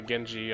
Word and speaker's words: Genji: right now all right over here is the Genji shield and yes that's how how it's pronounced but now that we have Kane in